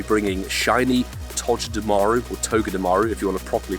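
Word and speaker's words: Togedemaru: that will be bringing Shining to dearu or togga dearu if you want to properly pronounce it coming to the game July 25th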